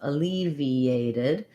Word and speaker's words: alleviated: in a row here so e a diphthong this t is flat sounds more like a d so it'd be like a leave e aided alleviated and when i go from ea you can hear there's a little bit of a yup sound in there it's not written in because then i just